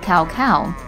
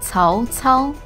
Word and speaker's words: Cao Cao: Many folks pronounce it Cao Cao. But since when was this ancient Chinese warlord double dairy? If you say Cao Cao, then you're saying it wrong. Now, the actual way to say this is Cao Cao, Cao Cao, Cao Cao.